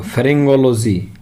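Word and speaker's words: pharyngology: Next है हमारा PHARYNGO, फेरिंगोलॉजी।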